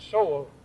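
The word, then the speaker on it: Seoul: Korea were you in Soul so they pronounced the dictionary says it's so but everybody over there calls it Soul so I call it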